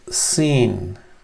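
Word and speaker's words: سين: out as then is the letter seen seen as in s as in Sierra as in Sun that's the scene this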